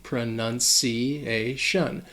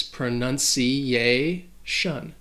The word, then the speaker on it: pronunciation: Also, a pronunciation rule is that when a word ends with the T-I-O-N, the stress is going to fall on the syllable before. So in this case, pronunciation.